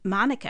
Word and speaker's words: Manuka: However, I recently read that that's actually a myth and Monica has been the official pronunciation in CRA since the 1920s.